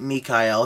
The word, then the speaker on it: Mikhail: which is saint michael she told me he likes to be called saint mikhail his original uh pronunciation of the name so every time i call upon him i say saint mikhail uh saint raphael or